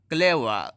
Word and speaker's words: clever: CLEVER, clever, आर को नहीं पढ़ेंगे।